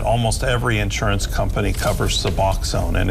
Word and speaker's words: Suboxone: A Saline County viewer, most insurance does not cover Suboxone. Am I pronouncing it correctly?